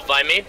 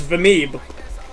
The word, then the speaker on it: Vimeeb: Hello, Vimey? Hello. Hi, Vimey. Why is everyone saying my name wrong? What the fuck is wrong with you people? It's Vameeb.